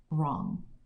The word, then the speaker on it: wrong: one has two Blends w r makes r o n makes on wrong this one is e n